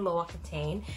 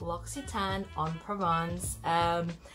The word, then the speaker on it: L'Occitane en Provence: it's either look cheat on a look L'Occitane low-octane i know there's so many variety bad it is actually pronounced L'Occitane on Provence it is I think I have watch in